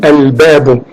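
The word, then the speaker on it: الباب: Donc on lit al-babu. Et le lam, il contient le sukun, on prononce le lam.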